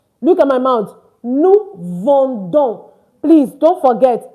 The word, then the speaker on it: vendons: Nous vendons. Please don't forget, it's not vin, it is vend. So nous vendons, meaning we are selling. And of course, you do not pronounce the S.